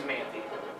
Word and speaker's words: Manthe: and you are manthey manthean as we switch the two syllables on your last name it would be the man right yes sir the man